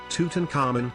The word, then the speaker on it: Tutankhamun: King Tutankhamun ruled 1334 to 1325 BC. Tutankhamun, Egyptological pronunciation Tutankhamun, commonly referred to as King Tut,